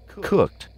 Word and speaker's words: cooked: the D sound happened cooked cooked walked so we have cooked sound like a tea and walked which also